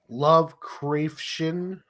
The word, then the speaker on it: Lovecraftian: But if you were to pronounce it, Lovecraftian.